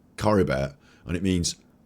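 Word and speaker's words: Caribert: so it's not called Cabaret this episode I thought it was Cabaret it's Curry bear how dare they put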